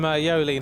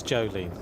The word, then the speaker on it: Jolien: She's gone from Jolien and now tells me it's Jolene.